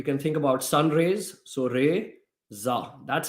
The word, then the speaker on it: Reza: one came in from Tim how do you pronounce your name my name is re Za re can think about you can think about sunrays so re Za that's how you pronounce my name not I've heard everything about